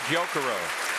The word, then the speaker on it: Gyokuro: If she were in Japan, it would be Gyokuro. But because it came to English, that's a bit of an anglicized pronunciation. And hearing Gyokuro told her in her mind it's A.